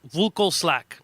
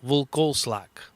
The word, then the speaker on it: Vlkoslak: ] it up but I told people what like saying velcro slack but take out the vowel V slack and I'm sure there's